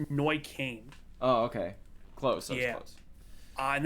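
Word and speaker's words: Neuköln: then you go to what is it neukulen which is this one i did look up the pronunciation it's it's noy kane oh okay close uh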